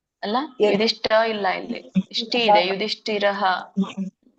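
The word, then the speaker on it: ಯುಧಿಷ್ಠಿರಃ: ಹೇಳಿ ಮಾತಾಜಿ ರಾಜ ಅನಂತ ವಿಜಯಂ ರಾಜ ಕುಂತಿ ಪುತ್ರೋ ಯುಧಿಷ್ಠರಹ ನಕುಲಸ್ಯ ದೇವಚ್ಚ ಸುಘೋಶೋ ಮಣಿ ಪುಷ್ಪಕಹ ಪುಷ್ಪಕ ಸುಘೋಶ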